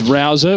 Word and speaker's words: Rouser: the day yes and we've had confirmation that the pronunciation is rouser we've had conflicting reports